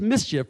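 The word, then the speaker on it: MISGIF: i love this acronym mischief m-i-s-g-i-f but it's pronounced mischief i was told before here they're a shining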